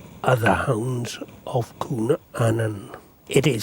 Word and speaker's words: Annwn: mythology means dogs and Anan or a newvin in an older pronunciation means the ender world